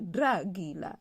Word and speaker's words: dragila: DR se prononce dre. Par exemple, dragila. Dragila, c'est cette tenue traditionnelle que les hommes portent le jour de leur grand mariage.